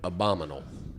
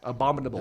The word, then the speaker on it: abominable: that's a stupid word abominal I think I said it right abominal no it's it does another in there abominable is another syllable yeah yeah listen to